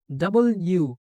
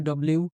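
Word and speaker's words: W: ডাবল ইউ। এটা আমরা অনেকেই বলি ডব্লিউ বা ডাব্লিউ বলে অনেকে, কিন্তু এটা হচ্ছে দেখো একটা ইউ আর একটা ইউ, এটা ডাবল ইউ, তাহলে ডাবল ইউ।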